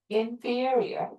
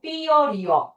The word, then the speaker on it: inferior: 얘는 발음이 중요해요. 어떻게 읽어야 돼? inferior. inferior.